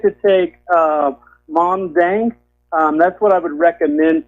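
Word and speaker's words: Maeng Da: Mondang. It's spelled Maendga.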